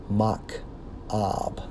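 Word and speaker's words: מַכְאוֹב: Okay, sorrows, according to the Hebrew, is actually Strong's H4341, pronounced as Mach-ab, which means what?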